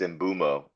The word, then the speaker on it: Mbeumo: I spell it wrong every time, bro. Because his name is not it's Mbeumo.